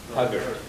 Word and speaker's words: sagart: How do you say the TS again? Sagart. You pronounce the T, don't pronounce the S.